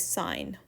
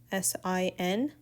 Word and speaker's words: sine: for right triangles so the first one is sign so s um the shorthand notation is s s i n it's not sin we pronounce it as s